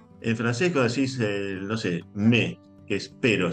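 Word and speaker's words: mais: En francés decís, no sé, me que es, pero se escribe m a i s y se pronuncia me, o sea, se pronuncia una vocal que no está en la palabra, ¿no?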